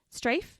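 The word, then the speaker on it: Straiph: that's how you say his name it's s-t-r-a-i-p-h strafe okay let's do this strafe Wilson and he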